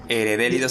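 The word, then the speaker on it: Hederellidos: Y bueno, ahí si quieren buscar Ederélidos, se escribe con H, ¿no? Es H-E-D-E. Sí, R-E-L-L-I-D, como doble L. Ederélidos, así como suena, pero con H.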